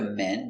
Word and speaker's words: men: man open sound man one man two M it's closed more closed and it's short so again one man to